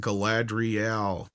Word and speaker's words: Galadriel: It's pronounced Galadriel.